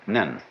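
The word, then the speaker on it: 念: very interesting sign this it's pronounced in Japanese nin and the top part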